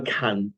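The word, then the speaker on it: קן: A kan and can are both correct, but it's a kan tzipor. Ki karei lecha kan tzipor b'derech choletz v'la'aretz. Yeah, I've heard it pronounced both ways, but kan is the way it's in the Torah itself.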